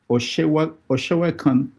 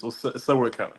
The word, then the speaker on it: Sewekan: It's Sewekan. Oh. I'm Okay. from Badagry. Say that again. Sewekan. Yeah. Sewekan. Okay. Yeah. All right. So Se is like God, and then Kan is